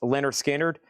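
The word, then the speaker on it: Lynyrd Skynyrd: Leonard Skard pronounced Leonard Skard a VG copy.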